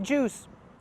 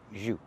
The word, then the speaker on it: jus: That is jus. Not juice, but jus.